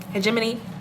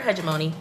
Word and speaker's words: hegemony: And hegemony, let me see how Google actually pronounces it. I was right. Hegemony. I've also heard hegemony. Oh, you can also say hegemony. I'm looking at the pronunciation breakdown.